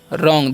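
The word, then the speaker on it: wrong: पढ़ेंगे दैट्ची है और डब्लू आर ओ एनज तो इसे पढ़ेंगे हम रॉन्ग दैट्ची क्लियर अ इस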